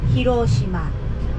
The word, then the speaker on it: Hiroshima: that hirosima or hirosima we Japanese people usually say hirosima hirosima no accent it's flat just like my jokes